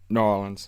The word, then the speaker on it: New Orleans: But now, is that how they say it? Norins? Yeah. New Orleans. Yeah, there we go.